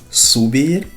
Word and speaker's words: subir: Y de los dos significados no tiene nada que ver con el subir en español. Subir en francés, así se pronuncia subir, la U francesa.